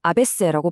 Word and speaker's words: ABC: 프랑스어로 아베세라고 발음하는데 이게 알파벳이라는 뜻도 되지만 동시에 억압받는 민중을 의미하는 단어 아베세와 발음이 똑같거든요.